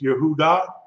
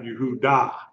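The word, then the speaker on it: יהודה: you pronouncing d H yehudah that's wrong yudah D the H of s yehudah not yehudah yud Yehuda okay you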